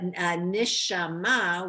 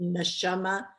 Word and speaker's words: neshama: But nishama, which you might know from the Yiddish pronunciation, neshama.